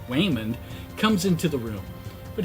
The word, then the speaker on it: Waymond: Now, in the film, her mild-mannered husband, Raymond, pronounced Waymond, comes into the room.